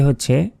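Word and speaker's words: حاء: আলিফ বা তা সাম তারপর হা আমরা অনেকে এই অক্ষরটি বাংলায় আমরা যেমন এই যে হ আকারে হা রয়েছে এইটা উচ্চারণ করি এটা কিন্তু সম্পূর্ণ ভুল কারণ এটার সঠিক উচ্চারণটি হচ্ছে হা মানে গলার ভেতর থেকে উচ্চারণ হবে গলাটা একটু চাপ দিয়ে ধরবেন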